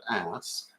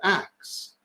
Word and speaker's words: ask: If you were a speaker of Middle English, you might have said ask, or you might have said ax, depending on where exactly you lived and what your connections were.